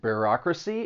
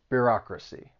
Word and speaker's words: bureaucracy: word is pronounced and bureaucracy it has four syllables and the stress is on that second syllable bureaucracy bureaucracy and all of the